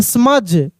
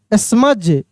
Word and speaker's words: smudge: SMUDGE स्मज, स्मज, ठीक ना, डी का उच्चारण नहीं हो रहा है।